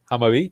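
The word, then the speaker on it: Hammarby: He's currently playing for, Duck can probably pronounce the club far better than me, I believe. Hamabi, there you go.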